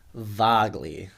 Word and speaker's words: Vagle: name as well vogley is my is my last name pronunciation oh well spell that for us VA a uh g l e and say it again vagley vley oh okay Norwegian yeah okay and David